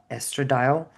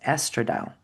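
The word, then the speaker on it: estradiol: proven like men when women have high estrad estradile they actually um attract men 58% of time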